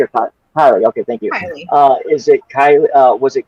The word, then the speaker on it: Kiely: I don't want to say her name wrong. Kylie? Keely or Kylie? Okay, thank you. Kylie.